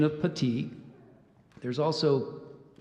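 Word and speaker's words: puttee: you the pronunciation of petite there's also Puti and Petty excuse me putty let me do that again so we have putty the first one I gave you there's Pootie and there's putty um inspeller 33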